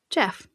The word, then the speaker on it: Gef: Pronounced Jeff, not Jeffrey. Simply Jeff.